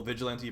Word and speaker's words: Vigilante: So see how I have a low-level Vigilante Pursuit, or Vigilant Pursuit, I believe that's... Vigilante, yeah, Vigilante is the way you pronounce that.